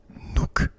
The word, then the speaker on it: Nuuk: Nuuk, la capitale du Groenland, qui s'écrit N-U-U-K.